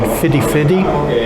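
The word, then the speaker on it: Fifty-Fifty: So I've been looking to get this cocktail called Fidi Fidi. That's how you pronounce it. It's spelled 50-50, but they call it Fidi Fidi.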